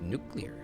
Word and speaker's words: nuclear: a n nuclear nuclear it's pronounced nuclear 5 Millie what if